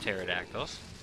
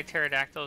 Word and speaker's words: pterodactyls: you want to know why pterodactyls are an awesome pet because the p is silent that's nice Bing